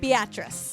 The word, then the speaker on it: Beatrice: Beatrice. Beatrice rhymes with mattress.